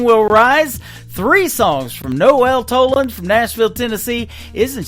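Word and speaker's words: Noelle: Three songs from Noel Toland from Nashville, Tennessee.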